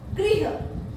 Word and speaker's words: गृह: क्या है घर जो ऋ की मात्रा है वो गृह गृह बोलेंगे और ये ग्रह ठीक है तो जैसे